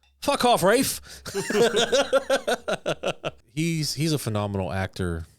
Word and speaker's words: Ralph: super fun right uh Rafe finds um that's how I'm gonna that's how I'm gonna pronounce his name now I'm Ralph I'm gonna call him Reef because it's funnier off Rafe he's he's a phenomenal